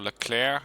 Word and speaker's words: Leclerc: A Thunderbolt, a whole bunch of transports, one Leclerc, or Leclerc as the French would pronounce it, and a Legion 90 group.